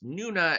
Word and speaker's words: Nuna: of the creep so Nuna the monsters messed with us yes that's Nuna as in rhymes with Luna if you meant nun